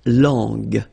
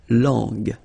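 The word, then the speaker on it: langue: more time La long remember when we've got this J and then U and then U we get the sound g g because when you combine this J and then remember it was the sound J okay so You' got to put this U between the two to get the sound g g so you get La long long okay final not pronounced so you can notice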